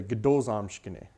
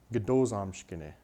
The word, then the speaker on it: gdo zamshkene: And with this word, even though that O sound at the beginning around here is kind of dropped when in the third person form, it comes back.